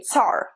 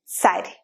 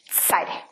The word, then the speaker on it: царь: Like in English you say tsar, Russian tsar, but in Russian we say царь. You hear the difference? Tsar and царь.